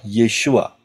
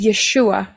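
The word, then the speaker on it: ישוע: to the left yaitu Yod Shin wau Ayin yang yang diucapkan adalah yesua Andon pronunciation is yesua Mengapa yahwe menjadi manusia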